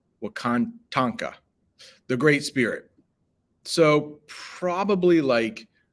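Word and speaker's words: Wakan Tanka: There was a strong need for guidance from, another footnote here, and this is literally pronounced the way it looks. Wakatanka. Almost sounds like Wakanda, but it's not. Wakantanka, the Great Spirit.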